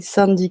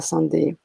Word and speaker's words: Sandy: Et Sandy qui nous dit que c'est bien Sand, ça se prononce et non pas Sandé.